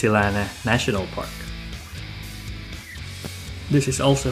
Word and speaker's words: Sri Lanna: right way to pronounce silana National Park is with a silent r in the middle so it is pronounced silane National Park this is